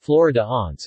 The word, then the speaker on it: Flaó: flower Alliance pronounced Florida aunts is a type of pastry made in different